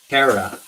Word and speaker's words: Kara: Also, the pronunciation of my name is Kara.